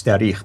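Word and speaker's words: تاريخ: Now, when you said tahriq, it meant grammar. I wanted to just make sure people understood what you're trying to say. It's tarikh that you're focused on.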